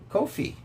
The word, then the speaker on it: Ko-fi: Um and uh give to the uh Kofhei rhymes with no fee as Martin Popoff used to say.